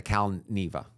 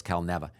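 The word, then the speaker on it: Cal Neva: of me at the caleva I said it wrong when I did the video because someone said it was calneva there's a video of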